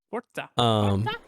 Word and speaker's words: Forza: I'm glad you're pronouncing Forza correctly. That's all I gotta say. Forza.